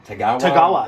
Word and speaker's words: Tagawa: Tagawa. It's hard to pronounce.